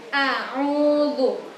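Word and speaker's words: أعوذ: Jadi di bacaan ta'awud itu yang pertama itu A biasa. A biasa, setelah itu baru ain. Jadi a'udzu, a'udzu.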